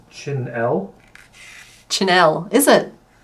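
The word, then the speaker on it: chenille: wolf chick wants to um clarify that it's pronounced chinel chinel is it c h e n i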